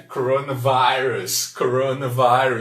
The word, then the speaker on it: coronavirus: Quase igualzinho, só muda a pronúncia aqui do I, né?